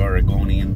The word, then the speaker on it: Oregonian: I can't speak forever you Oregonian yes that's how you pronounce it although you do pronounce